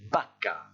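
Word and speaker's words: vaca: le monde gala ensuite ce mot-là qui désigne une vache se prononcent écoutez bien barca et c'est le premier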